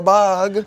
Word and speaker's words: Bug: cheek and I'm like, Bog, don't act like it hurts. And then I look at you and I'm like, I've never realized my name rhymes with a hug.